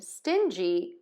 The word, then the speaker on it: stingy: In sting, we have one syllable or one beat in this word. And in stingy, we have two beats or two syllables in this word.